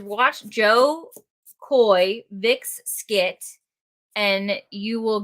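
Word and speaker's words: Jo Koy: Joe Coy.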